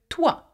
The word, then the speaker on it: toit: Le toit, though it has a T, we do not pronounce the T, by the way.